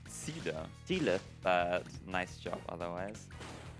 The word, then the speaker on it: Ziele: It's pronounced Ziele.